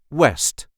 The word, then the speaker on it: west: And last but not least, west, which we pronounce the same but then without the English accent.